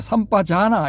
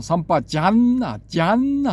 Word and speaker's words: Sampajañña: 한때 삼빠자나 이렇게 이제 불리기도 했는데 요즘은 이제 이 빨리의 원어 발음을 또 이제 확실하게 해주자 뭐 이런 게 있는 것 같습니다. 제가 삼빠자나로 네이버에서 검색을 해보니까 삼빠잔나 뭐 이렇게 써놨더라고요 보니까. 그래서 N이 두 개인가 해서 제가 찾아보니까 N이 두 개가 맞더라고요 보니까. 그럼 정확한 발음은 삼빠잔나 뭐 이렇게 되는 거죠.